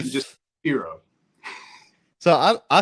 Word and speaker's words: pirogue: in Baton Rouge and everybody up here says proo and they very they like pronounce it proo they say it's stupid so